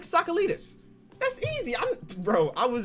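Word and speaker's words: Tsakalidis: it or not and it's pronounced soccer leaders soccer leaders jake jake sakalitas that's easy bro i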